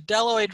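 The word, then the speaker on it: bdelloid: which i just misspelled the deloid rotifers the bee is silent which is a phrase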